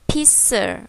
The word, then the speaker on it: pizza: không đọc là pizza mà chúng ta sẽ đọc là pizer pizza pizza nghĩa là bánh pizza nhé nào